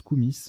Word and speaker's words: koumis: Koumi avec un I, alors pardon, ça se prononce Koumis, K-O-U-M-I-S, Koumis avec un I ou un Y, lait fermenté de jument en Asie centrale.